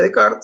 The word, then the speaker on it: Descartes: Se pronuncia Descartes, se escribe Descartes, ¿sí?